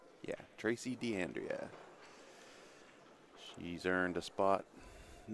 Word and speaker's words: D'Andrea: did I say her name right yeah Tracy d'andrea she's earned a spot in this final by